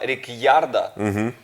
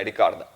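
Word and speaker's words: Ricciardo: не говорит на тему типа рекярда при тому что правильно рикарда хотя ну возможно в произношении потому как пишется возможно правильно и Редьярда Но сам Даник сказал в Максом спрашивал сам Да не сказал что ну типа рикарда вот тем не менее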